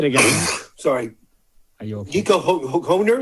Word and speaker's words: Hoerner: Nico Hoerner? Nico Hoerner.